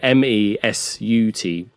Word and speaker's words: Mesut: Yeah, M-E-S-U-T.